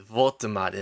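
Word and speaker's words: Woltemade: You got to put that V. Voltamade, like that real German.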